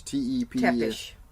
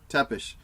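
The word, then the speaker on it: Țepeș: It's Tepes. Tepes.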